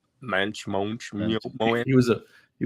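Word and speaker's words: Moench: the writer on it Doug Munch again Doug Munch whatever you say his name mench MCH he was a he was a mench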